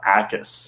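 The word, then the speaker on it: Jacas: Uh, Gabe, is it Jockis or Yakis? It's pronounced Ais. is accurate. The when they say the Jay is silent, it's like completely silent.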